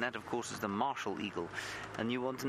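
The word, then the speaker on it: martial: out here, and that of course is the Marshall eagle, and you want to know why it's called Marshall. Well, Marshall is spelled M-A-R-T-I-A-L, which basically means military, or to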